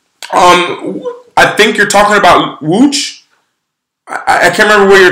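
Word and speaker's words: Łódź: And Wooch is, that's a city that looks like Loads. This is how you say it in Polish, is Wooch.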